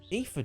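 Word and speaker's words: Iifa: That's the way to the Ether tree. Yeah, I pronounced that right. I-I-F-A, Ether.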